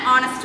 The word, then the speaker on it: honest: Sundar is an honest person. Honest தான் நேர்மையானவன்னு சொல்லியிருக்கேன். ஸோ இதையும் ப்ரொனவுன்ஸ் பண்ணி பாருங்க.